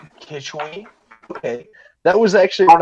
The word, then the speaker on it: Quichwe: right Keith Keith which how do you pronounce your name uh Keisha way or kitchy kitchy okay that was actually